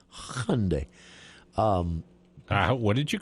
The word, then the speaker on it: Hyundai: But it is actually pronounced just Hyundai with a little bit of a ya in there if you can throw it in.